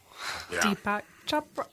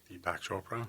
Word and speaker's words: Deepak Chopra: it'll change enough people's minds that's so wonderful Deepak choa right is that deep yeah how do you say it Deepak Chopra Chopra thank you I wanted to say shopin